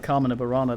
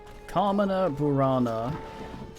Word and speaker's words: Carmina Burana: It's part of Carmen of Burana, the thing they butchered in Final Fantasy.